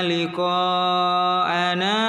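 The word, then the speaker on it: لقاءنا: Innal ladzina la yarjuna Ya, di liqa itu ada 6 harokat nak. Harus panjang bacanya 6 harokat. Ustaz ulangi lagi. Innal ladzina la yarjuna liqa'ana wa radu bil hayatid dunya.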